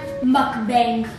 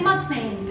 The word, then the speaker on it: mukbang: I'm gonna mukbang. You're not supposed to say mukbang. It's pronounced mukbang. It's kind of hard to pronounce, but it's not mukbang.